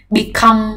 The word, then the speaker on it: become: Become và begin đều quen đúng không, đều là trọng âm hai.